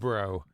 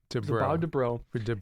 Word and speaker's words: Dobrow: I read it, but I never actually heard it pronounced. Dobrow. Dobrow.